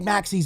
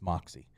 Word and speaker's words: Maxi: just like just take Maxi's minutes it's not that easy right like again he's the worst Defender still because of because of all those intangibles and I said it wrong it's Moxy uh in the intangibles